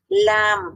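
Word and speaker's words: لام: আচ্ছা, এক পাশেও আপনি দিলেও লাম হবে, দুই পাশে দিলেও লাম হবে, দদের মতোই।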